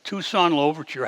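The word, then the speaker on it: Toussaint Louverture: free a man named tucson lover and that's the exact pronunciation tucson overture had led a rebellion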